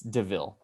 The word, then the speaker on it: DeVille: It's got 2 syllables. Miller. No, Were you kidding? I'm not kidding. The second Oh. part of it rhymes with their first name.